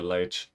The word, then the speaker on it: Leite: Good time to see him coming through strong as obviously Diogo Leite. Leite? Never really learned how to pronounce the name. I think it's Leite in Portuguese.